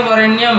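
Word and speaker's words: वरेण्यम्: हस्व का लिखने में वरण्यम होगा जब उस मंत्र का उच्चारण करते हैं तो वरेणियम पूरा मंत्र नहीं बोलना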